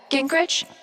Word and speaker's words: Gingrich: steph uh gingrich is that how you say it yeah that's